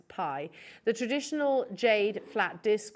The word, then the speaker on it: bi: can see it there it's spelt bi it's actually pronounced pie the traditional jade flat